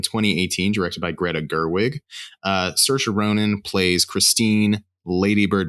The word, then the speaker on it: Saoirse: Saoirse Ronan plays Christine Lady Bird McPherson.